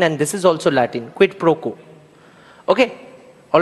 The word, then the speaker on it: quid pro quo: So I have just silenced the U because that's the rule of pronouncing vowels, especially in European languages, which are derived from Latin, and this is also Latin.